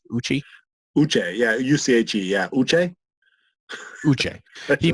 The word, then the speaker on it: Uche: How do you pronounce the guy they took earlier in the 2nd round? Uche. Right? U-C-H-E. Uche.